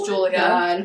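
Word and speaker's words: Giulia: me Julieta growing up my name is Julia but it's spelled g IU l i a The Italian way cuz I was born in Italy so nobody ever knows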